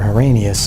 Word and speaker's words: Arrhenius: that was based on definition proposed by Savant Arrhenius, or Arrhenius as some people like to pronounce it.